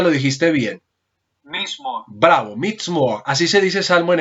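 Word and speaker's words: מזמור: ¿Cómo se dice salmo en hebreo? Vuélvelo a decir. Si no estoy mal, como Mazamorra. No, pero dilo porque ahorita lo dijiste bien. Mismo. Bravo, Mizmor.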